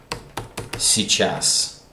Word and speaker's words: сейчас: These two letters sound more like и.